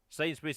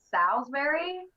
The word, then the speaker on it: Sainsbury's: shane no no okay the story behind that is i thought the shop was called salisbury like oh okay so he was yeah that was asking ah now it makes sense yeah yeah i did was not pronouncing it right okay i've got you